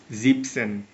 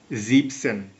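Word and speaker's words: siebzig: দেখাই এই পরিবর্তনটা হচ্ছে এখানে আমরা সাতের জার্মান শিখেছিলাম জিবেন কিন্তু এখানে আসছে জিপ এনটা বসবে না এটা মনে রাখবেন জিপসন জিপসন্যা তাহলে আমরা নেক্সটে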